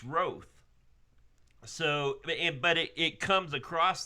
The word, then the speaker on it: Roth: If it was it's Roth, which you would think was pronounced Roth, but it's not. It's Roth.